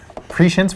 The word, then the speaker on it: prescience: It's pronounced prescience.